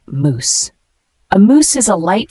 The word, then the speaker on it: mousse: moose is a noun it is pronounced as moous a moous is a